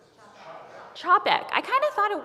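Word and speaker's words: Čapek: Chapek.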